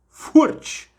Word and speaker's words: Furch: O Santos contratou de novo Júlio César forte fica a dica de como se pronuncia Pelo menos foi o que o YouTube